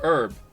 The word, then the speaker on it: herb: You have to say herb, man, not herb. They do, and it's weird. It really is. Herb is how you pronounce it, though.